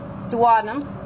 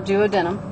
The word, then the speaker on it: duodenum: Sophagus again, pancreas, dadum or duodenum. Your your your choice on pronunciation.